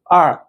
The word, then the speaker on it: er: to pronounce these finals, you should open your mouth wider, not but R. Okay, tell the difference. Yeah, one more time. For the English phonetics, right? Her. But in Chinese pinyin, it pronounces as R.